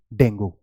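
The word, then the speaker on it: dengue: सो इट्स नॉट डेंगू, इट is either डेंगी और डेंगे। तो आप अब दोनों में से कोई यूज करेंगे, but please don't say डेंगू, okay.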